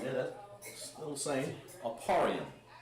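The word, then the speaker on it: אפרים: Aparium. That's how you pronounce it in Hebrew.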